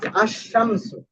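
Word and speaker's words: الشمس: তাহলে যেভাবে এটাকে চিনানো হয় দেখেন আশশামসু। আশশামস আশশামস এখানে কিন্তু আলিফ লামটা কি হয় নাই উচ্চারণ হয় না আলফামার আলফামার দেখেন আশশামসু এখানে লাম উচ্চারণ হচ্ছে না।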